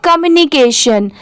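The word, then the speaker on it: communication: तो देखिए, COM, इसे पढ़ेंगे कॉम। ठीक है, इसे कम नहीं पढ़ेंगे, कॉम।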